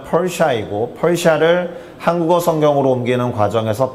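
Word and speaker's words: Persia: 페르시아가 영어로 발음하면 펄샤이고 펄샤를 한국어 성경으로 옮기는 과정에서 바사라고 하게 된 것은 이미 아실 겁니다.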